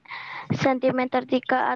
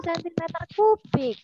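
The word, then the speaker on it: cm³: Debit aliran bensin tersebut adalah titik-titik sentimeter 3 atau detik. Lalu oh ya, di kelas 5 Nabi Lut belum harus kasih tahu ya. Ini bacanya bukan sentimeter 3 sayang, tapi sentimeter kubik.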